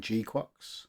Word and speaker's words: GQuuuuuuX: Hello and welcome to my review of the Highgrade G-qu. Yep, that's how you spell it and pronounce it.